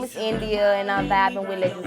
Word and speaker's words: N'Dia: So how did you come up with the name India? That's my real name. It's simple, it's cute, it's spelled like different, so I just wanted to keep it to let everybody know I'm different.